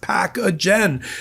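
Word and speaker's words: Pacagen: That's P A C A G- N pronounced packagen.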